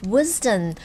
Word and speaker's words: wisdom: 么的 Full of wisdom, 充满智慧的 Now, watch out for the S in the word wisdom. It's pronounced as Z rather than S. Wisdom.